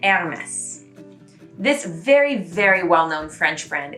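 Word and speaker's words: Hermès: at the beginning is actually pronounced more like the word air in English, like the air in the room. So say more like an Hermes. And then you're really getting close to the French pronunciation.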